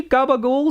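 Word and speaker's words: capicola: Well, you know, it's like it's spelled Capicoli, but people say Gabagool, so I guess I'll just say Gabagool.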